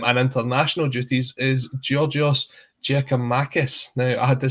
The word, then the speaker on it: Giakoumakis: injury crisis um and international duties is giorgios jacob marcus now i had to say that right because